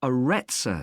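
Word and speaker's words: Arretsa: It's called the Aretsa Centre. That's spelled A-R-R-E-T-S-A.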